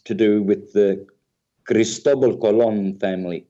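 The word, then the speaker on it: Colón: do with the cristobal colon family colon is is how you say it in spanish and i would appreciate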